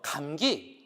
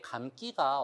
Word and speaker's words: 감기: 자, 그래서 여러분 감기 어떻게 발음하세요? 감기라고 발음 안 하잖아요. 네, 애취 할 때는 그대로 감기라고 하는데 나 뭐 그 팔이 다쳐서 머리 감기가 어려워. 머리 감기가 어려워 안 하잖아요.